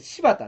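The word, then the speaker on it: 新発田: けれどもねはいこれね柴田って読むんですねであの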